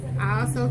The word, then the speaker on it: Iaso: see my previous videos I also T that's the way you pronounce it i a s o also T um this is the